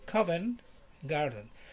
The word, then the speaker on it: Covent Garden: covent garden comment garden you don't pronounce the t usually people from london don't pronounce the t they just say coven garden and not covent garden if you pronounce the t is not wrong but people will look